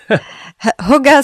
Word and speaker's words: hygge: I think it's hygge. Hygge, yeah. Hygge is how you pronounce it.